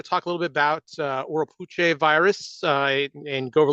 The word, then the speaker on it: Oropouche: Oropouche is probably the closest way to properly pronounce it based on the Arawak language.